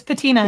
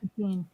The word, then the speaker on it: patina: sure it's paa patina it's patina not ptin yeah yeah it's Pantene